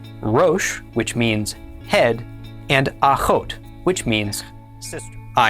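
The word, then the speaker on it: אחות: The olive is silent and the kamat is pronounced a. The is the kam is o. And remember the vav here is just part of the vowel. And finally the tav is t. Altogether this is pronounced aot.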